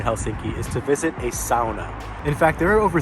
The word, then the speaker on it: sauna: But I guess it is actually pronounced sauna. That's how it's pronounced in kind of the Finnish dialect. One of the top activity suggestions here in Helsinki is to visit a sauna.